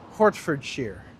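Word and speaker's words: Hertfordshire: It's pronounced Shear. Hortford Shear.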